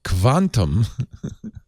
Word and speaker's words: Kvantum: Earlier, they bought Quantum. Quantum that's literally how it's spelled. KVANTUM uses artificial intelligence for consumer insights and marketing performance analytics.